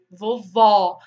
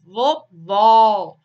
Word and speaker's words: vovó: vogal deve ser fechada um exemplo clássico para definir a diferença de pronúncia são as palavrinhas vovô vovó tão muda o acento tão com circunflexo é diferente do agudo a palavrinha vai ser mais fechado vovô alguma agudo vovó né quando o circunflexo